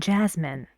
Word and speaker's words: Jasmine: He doesn't put stress on min in Jasmine. Just Jazz is stressed and not min.